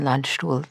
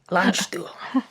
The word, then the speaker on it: Landstuhl: way to see him at the hospital in Landstuhl, Germany. Could you continue your story there? Yes, nice German pronunciation, by the way. Oh, thank you. Landstuhl.